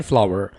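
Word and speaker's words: flour: fine फ्लावर कहते हैं इस वर्ड को आपने फ्लोर नहीं बोलना this is called fine फ्लावर fine फ्लावर coffee English में आप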